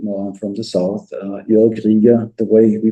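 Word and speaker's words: Jörg Rieger: Joerg Rieger, the way we pronounce it, Joerg Rieger in English.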